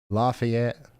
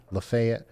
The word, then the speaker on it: Lafayette: It's Lafayette. Lefayet Lafayette.